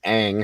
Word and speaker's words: Ng: Nancy Ang. Her last name is spelled NG.